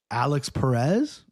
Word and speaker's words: Alex Perez: Alex Perez.